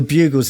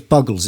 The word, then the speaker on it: Buggles: played on mtv um the bugles is the best pronunciation of that i've ever heard in fact no it was buggles it was two g's it shows you what